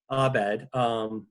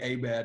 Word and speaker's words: Abed: that various weird racists say Abed instead of Abed. yes. At various points throughout the show, it's just kind of like to mispronounce Abed as Abed.